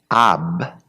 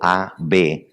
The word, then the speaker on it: Ab: Ab, en hebreo, A-B, Ab, quiere decir Padre.